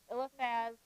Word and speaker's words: Eliphaz: So here's the pronunciation. So we have Eliphaz, the Temanite, Bildad, the Shuhite, Zophar, the Naamathite.